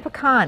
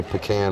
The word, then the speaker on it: pecan: Well, y'all say pecan up here, but really it's pecan. Well, I guess it depends on what demographic you're in. Down home, we say pecan.